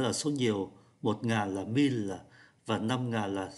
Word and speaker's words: mille: có con số 1, con số 1.000 đọc là mille.